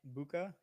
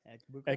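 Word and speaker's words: Egbuka: How do you pronounce the last It's name? like Ekbuka. Ekbuka.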